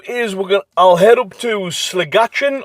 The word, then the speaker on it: Sligachan: So I think what we'll do is I'll head up to Sligachan, or Sligacan I think it's pronounced, which is kind of a little bit of a central hub here on the island.